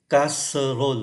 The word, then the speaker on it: casserole: Casserole là gồm có 4 âm tiết. Nhưng mà chúng ta chỉ còn có hai thôi. Ký tự ơ cuối không phát âm, ký tự ơ nằm kẹt ở bên giữa hai nguyên âm khác, hai cái syllab khác cũng không phát âm. Như vậy thay vì 4 casserole thì chỉ còn phát âm thành có hai, une casserole là một cái song.